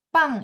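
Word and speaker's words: 棒: Jadi pang itu pininnya gimana?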